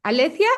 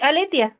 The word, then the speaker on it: Aletia: Alecia, ¿o cómo se pronuncia? Sí, Aletia, está bien.